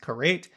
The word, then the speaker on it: Karet: Karet or I guess it's supposed to be pronounced kareit. Also known as excision, is